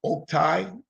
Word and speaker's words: Oktay: All right, my name is pronounced Oktay. Oak as in tree, tie as in tie.